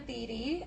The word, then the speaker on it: Thede: And now you guys know that my last name is pronounced Thede, not Thede. So if anybody says it, you can correct them because we're all friends. Really, that's the only reason why I got a TV show, so people would pronounce it. It's a long E.